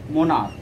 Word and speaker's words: monarch: Monarch, for example, one more you can see, monarch, here ch pronounced as a k, so we will add here only s for making plural.